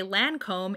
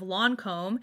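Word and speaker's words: Lancôme: Most of them say Lancome instead of Lancome, and a lot of them say Guerlain instead of Guerlain. Okay, both of these are French words.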